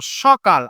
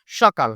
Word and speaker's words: সকাল: সকাল এই উচ্চারণটা কিন্তু দন্তস আছে আমরা কিন্তু উচ্চারণ করব সকাল অর্থাৎ তালব্য স এর মতন উচ্চারণ হয় সকাল না সকাল না এটা উচ্চারণ হবে সকাল কিন্তু আমাদের চাপানো অবজে